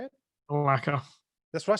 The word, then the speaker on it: Malacca: Malacca.